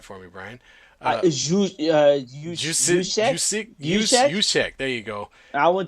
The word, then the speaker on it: Juszczyk: Last pass was an overthrow to you can pronounce that for me, Brian. Juszczyk? Juszczyk? Juszczyk.